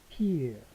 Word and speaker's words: vier: 4는 vier. 자, 여기 이어 발음이죠. 이어 발음. vier.